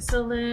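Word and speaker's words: Selûne: like saloon.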